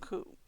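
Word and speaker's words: 九: The number 9 and the word pain also share the pronunciation of ku.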